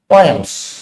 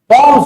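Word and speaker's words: poems: पोएम्स, पॉम्स बोलते हैं basically, जो करेक्ट प्रोनाउंसिएशन है पॉम्स है, बट अब इतना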